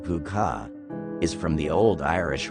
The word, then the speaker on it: Púca: The meaning of Pooka, pronounced Puka, is from the Old Irish word, Pooka, which means goblin.